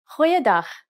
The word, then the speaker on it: goeiedag: Try pronouncing it from the back of your throat.